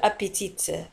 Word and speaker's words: appétit: Wa tantahi bi t. Wa la tantaq t fi akhir al kalima. La naqul appétit.